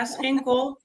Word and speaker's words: Schinkel: My full name is Schinkel and founder of Driftawave.